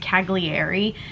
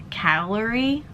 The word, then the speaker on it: Cagliari: boat we headed into what I thought was pronounced cagliari is actually pronounced calorie so my pronunciation was a little bit off